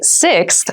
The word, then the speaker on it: sixth: sixth sixth sixth so sixth refers to the number six of something this is a really good word to practice some pronunciation slow down that sixth that middle part there the sixth book from